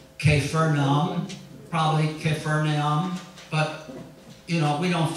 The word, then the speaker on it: Capernaum: Capernaum, we said, is Kepher Nahum. Kepher means village. Nahum is a man's name. So it's the village of Nahum. Kepher Nahum, and we pronounce it Capernaum.